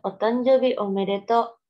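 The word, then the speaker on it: お誕生日おめでとう: Ini bacanya otanjobi omedeto, selamat ulang tahun gitu ya.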